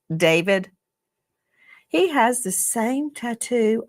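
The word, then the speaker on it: D4VD: Some people look at his name and it looks it looks like D4 VD and he pronounces it David.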